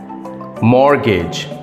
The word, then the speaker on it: mortgage: r t g a g e the correct pronunciation is mortgage mortgage it's not morgage it's morgage number two